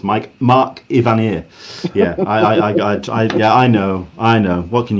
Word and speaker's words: Evanier: It's Mark Ivanier.